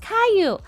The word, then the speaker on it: Caillou: don't think I have either oh AFK it's pronounced Caillou yeah I've been I've been trying to say Caillou but I keep messing it up thank you